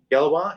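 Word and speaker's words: Gallois: Gallis or Galley. Galwa? Galwa? You're right. Yeah.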